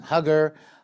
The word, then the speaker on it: Huger: I got to tell you, some people pronounce his name Hugger. other Huji, but so I'll go with the Huji.